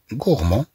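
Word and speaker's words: gourmand: أن أنفون غورمون أن أنفون غورمون إذا نتكلم عن طفل أكول طفل أكول أنه يأكل كثيرا. طبعا في المؤنث نقول غورموند في المؤنث نقول غورموند نقول مثلا اون في غورموند طبعا نضيف أ فتنطق هدي. أن أنفون غورمون Je suis grand.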